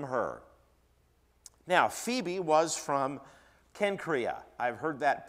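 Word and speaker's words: Cenchreae: that uh but uh the letter there is a Kappa it has a k sound there is actually in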